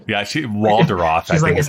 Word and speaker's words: Waldorf: She pronounces Waldorf in a way that it rhymes with the word off. Yeah, Waldorf, I think is how she actually pronounces it.